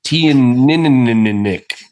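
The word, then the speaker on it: Teaninich: which surprisingly, you said it wrong. It's It's tea and nick.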